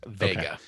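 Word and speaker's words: Wega: it's it's technically it's spelled but it is pronounced vega so 32-inch sony vega yeah that has been sitting in my basement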